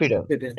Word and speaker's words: confidence: তাহলে কনসিস্টেন্ট, confidence.